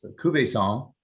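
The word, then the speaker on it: Cuvaison: and uh just a quick bit about uh cuvezan uh which is actually um pronounced kube song uh so i'll give you a little uh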